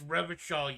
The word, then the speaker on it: Revachol: It's Revachol, you piece of shit. He pronounces Revocall with a hard K, unlike other people.